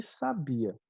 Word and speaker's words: sabia: palavrinha dessa aqui então sábia é um adjetivo e a gente acentua por quê porque é um uma paroxítona terminada em ditongo sabia é um verbo né e a gente não aceitou a sabia porque é um hiato só q ue é sempre a primeira vogal tônica e não segunda tudo bem e a